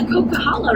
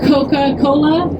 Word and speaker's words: Coquihalla: sometimes when the trees break we're on the cocaa right now can everyone say caala coca Hala it's like you know cocaa and then Hala cocaa guys if you can